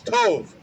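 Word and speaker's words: טוב: And that definition or pronunciation, Slakia, was tov.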